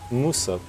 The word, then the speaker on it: мусор: Musor.